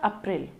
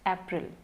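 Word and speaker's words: April: January, January, February, February, February, March, it's नॉट अप्रैल, इट्स अप्रैल, अप्रैल, मे, इट्स नॉट मे, इट्स मे, जून, जुलाई, अगस्त, सितंबर, सितंबर, सितंबर नहीं, सितंबर।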